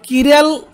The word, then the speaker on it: chiral: এখন আর যদি কোনো মানে কোনো কিরাল অ্যালকিল গ্রুপ হয়, কিরাল মানে CHIRAL, কিরাল, অনেকে কিরাল এরকম উচ্চারণ করে, বা অ্যাসিমেট্রিক কার্বন যদি আরে থাকে, তাহলে কী হবে, একটা আমরা জানি ইনভার্সন অফ কনফিগারেশন হবে।